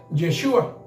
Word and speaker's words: Yeshua: llegamos al hebreo Entonces el verdadero nombre del mesías de origen hebreo se pronuncia yeshua y tiene significado que